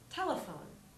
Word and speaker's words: telephone: the next word is telephone with three syllables te phone the E on the end is silent and the stress is in the first syllable on T so we'll